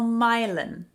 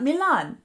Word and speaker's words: Milan: One, we call Milan. Not Milan, Milan. And if anybody dares to try to pronounce it Milan, the locals will look at you as if you have three heads.